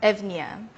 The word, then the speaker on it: Eunoia: a Greek word meaning beautiful thinking it is pronounced evnia is a performance that uses my brain waves